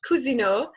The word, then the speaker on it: Cousineau: So my last name is actually pronounced Cousineau, but that's not really important.